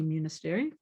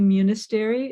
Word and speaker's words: Munisteri: x by munisteri myself and i have a website munistery it's a long last name it's pronounced like monastery m-u-n-i-s-t-e-r-i dot org